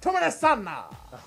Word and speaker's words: Tomena Sanner: It's pronounced Tomena Sanna.